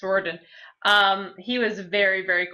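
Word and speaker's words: Riordan: Ling Thief books Rick I always say ryen but that's not how you say it yeah it's roen um he was very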